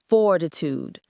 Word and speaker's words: fortitude: Fortitude. Stress on the first syllable.